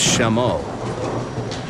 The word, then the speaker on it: Chameau: Well, I'm going to be mispronouncing Michael's name all day, so I might as well start now. It's Chameau.